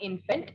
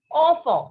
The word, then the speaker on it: enfant: It is not infant, it is in English. In French, we call it as enfant.